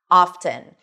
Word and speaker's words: often: However, at some point in the word often, the T started to come back, often. And the T is actually pronounced, something that we don't see in fasten or listen, right?